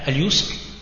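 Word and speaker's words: اليسر: Donc on voit ici deux termes qui vont être repris dans ce verset du Coran, al-yusr et al-usr. Donc al-yusr bil-ya ou al-usr bil-ayn. Et le reste, c'est la même prononciation.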